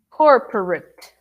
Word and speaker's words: corporate: now bs profession here this one is a tricky word because of the ate usually we think that it's corporate corporate uh-uh corporate let me write it in a different color here corporate oops